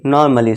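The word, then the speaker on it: normally: यहाँ पे क्या होगा, ए साइलेंट होगा। हम सीधा ही बोलेंगे नॉर्मली नहीं, नॉर्मली सीधे ही बोलेंगे।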